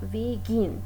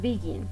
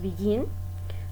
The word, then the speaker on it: begin: Por ejemplo, tenemos begin, tiene dos sílabas y se pronuncia begin, ¿no? No decimos begin, entonces es begin. El acento, ¿no? El stress, la entonación de voz está en la segunda sílaba, que es la última, entonces duplicamos con la consonante, beginning, ¿no?